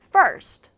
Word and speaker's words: first: First. First. 이런 식으로 first가 아니라 first. 첫 번째. 뭐 1층일 수도 있고 내 생일이 1월 1일일 수도 있잖아요. 그래서 first. 이런 식으로 ST로 끝날 때는 ST 발음을 줄여줘야 됩니다.